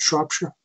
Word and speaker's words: Shropshire: the two from Shropshire is that am i pronouncing that right Shropshire a shuttle said that's right okay one was